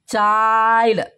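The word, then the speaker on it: child: ಎಲ್ ಡಿ ಬಂದ ಅಲ್ಲಿ ಐ ಗೆ ಏನ್ ಮಾಡಬೇಕು ಐ ಅನ್ಬೇಕು ಐಕ ಐ ಐ ನೋಡು ಮೈಂಡ್ ಮೈಂಡ್ ಚೈಲ್ಡ್ ಐಲ್ಡ್ ಬರುತ್ತೆ ಐ ಗೆ ಏನಂತದ್ದು ಐ ಐ ಉಚ್ಚಾರ ಮಾಡಬೇಕು ಅಲ್ಲಿ ಎನ್ ಡಿ ಎಲ್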